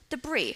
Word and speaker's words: debris: while you talk about debris okay the S is silent okay and also just